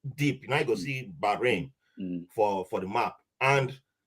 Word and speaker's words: Bahrain: i first arrived for bahrain or back rain if you want to pronounce it properly now that i discovered